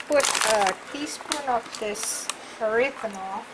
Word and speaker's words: erythritol: Erythritol. No, there's no N. It's erythritol. Erythritol. You Duh. can't teach me how to speak English? All this time you say it wrong.